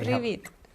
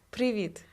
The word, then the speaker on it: Привіт: How do you say Привіт. Say it again. Привіт.